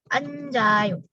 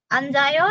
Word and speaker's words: 앉아요: Selanjutnya ada kata anta. Oke, anta duduk, da-nya hilang, tinggal an. Nah, losem ini konsonan. Oke, nggak masalah, karena yang kita lihat vokalnya. Di sini ada vokal A loh, jadi pakainya ayo. Langsung dia ditambahin anjayo. Dibacanya jadi an, J-nya pindah